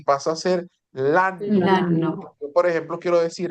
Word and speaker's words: l'anno: Lano. Yo, por ejemplo, quiero decir, el año pasado se dice l'anno L'anno scorso. scorso. L'anno ¿Lano qué?